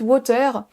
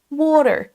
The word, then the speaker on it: water: Si vous dites water, on aura plus de mal à vous comprendre que si vous accentuez bien la première syllabe. Water, water.